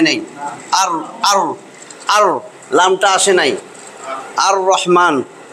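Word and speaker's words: الرحمن: আর লামটা আসে নাই আর রহমান র উচ্চারণটা ঠিকমতন হইছে আর রহমান লামের উচ্চারণ হয় নাই হ্যাঁ সেগুলা হইছে কি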